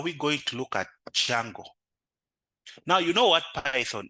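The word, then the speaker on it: Django: the framework is is Jungle the D is silent now jungle is a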